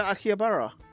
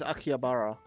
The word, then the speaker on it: Akihabara: I want to go to Akihabara.